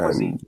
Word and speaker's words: cuisine: No, how about cuisine? Cuisine. I know it. Yeah. I wanted to pronounce it. Say cuisine though one time. Cuisine. Yeah. Cuisine. Yeah, the C makes a Q sound.